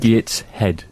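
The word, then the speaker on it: Gateshead: I'd where is he it's in Gates head Gates head okay that's how you say it he and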